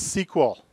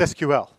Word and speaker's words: SQL: it carries forward today SQL is what they call an initialism not an acronym an acronym you pronounce